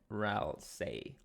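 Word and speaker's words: Ralsei: run stay within him it's with an L RAL say and it's pronounced like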